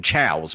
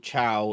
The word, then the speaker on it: Chao: Yeah, cuz it's like they're like it's meant to be chaos cuz they're chaos emeralds. But the S is meant to be like the pluralization of them. So they're chows.